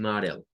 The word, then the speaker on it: model: En este caso, un modelo o maqueta, un model. En este caso es de notar que la, la A suena como AO y suena una L al final.